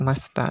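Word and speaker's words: ました: Kemudian diakhiri dengan masta. Jadi intinya akhiran masnya diubah menjadi masita atau masta bacanya ya, untuk membuat bentuk lampau dalam bahasa Jepang.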